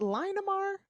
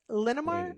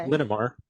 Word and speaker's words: Linamar: in line uh for is it Lamar is that you say it linamar okay linamar I believe linar okay